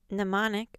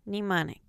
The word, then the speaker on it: mnemonic: in rhyme rhetoric sellin m and m n as in mnemonic or mnemonic and silent P in